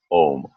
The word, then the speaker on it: Om: the mantra home and ohm can be pronounced in several ways most of the time we listen to ohms as simply home but there is also a way of pronouncing it that's a little different which is ah going to AH and then ending in mmm and if you notice